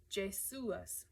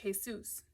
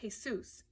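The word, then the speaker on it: Jesús: pronounce Jesse's real name Jas like the guy from The Bible uh when it's really pronounced Jesus like a bale of hay and Dr Seuss that's not how you say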